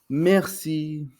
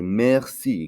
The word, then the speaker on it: merci: then we also have merci merci which means thank you so when you receive something or somebody does something for you you would say merci kind of like the word mercy in english merci now to say please